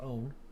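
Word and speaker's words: -one: own that's i mean it says one but really it's pronounced own right and so here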